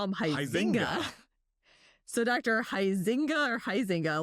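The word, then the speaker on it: Huizenga: seemed to call him Huizinga. So Dr. Huizinga or Huizinga, let us know how you pronounce your name. I'm still super confused there because how we pronounce it being Dutch is Huizinga.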